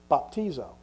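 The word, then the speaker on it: βαπτίζω: things the original Greek word for baptism is pronounced bapo baptizo isn't that pretty would you say that with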